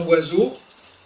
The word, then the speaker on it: oiseau: Parce que dans oiseau, on n'entend pas le son O, pourtant il y est, ni le son I, ni le son S.